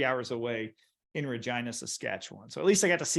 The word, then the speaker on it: Regina: Regina? Yes, Regina. That's how it's pronounced.